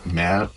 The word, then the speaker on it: merde: voice acting was trying to make everybody say merde and putain. All the French words, it was always lovely to try to teach them to have the right pronunciation. Merde.